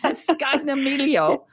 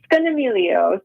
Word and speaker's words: Scognamiglio: Scognamiglio, right? Scognamiglio, yes. So I think the G is, as an Italian, I could say I think the G is silent. Scognamiglio. Scognamiglio.